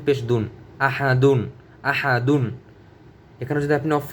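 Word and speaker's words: أحد: হামজা জবর আ, হা জবর হা, আহা, আহা, আহা। দাল 2 পেশ দুন, আহাদুন, আহাদুন। এখানে যদি আপনি অফ করেন তাহলে উচ্চারণ হবে আহাদ।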